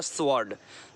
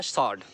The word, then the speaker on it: sword: Next one आगे आते हैं, स्वॉर्ड को स्वॉर्ड बोलते हैं, स्वॉर्ड, स्वॉर्ड, W साइलेंट है यहाँ पर, रॉन्ग प्रोनाउंसिएशन है स्वॉर्ड, करेक्ट प्रोनाउंसिएशन है सॉर्ड, सॉर्ड, सॉर्ड, ओके।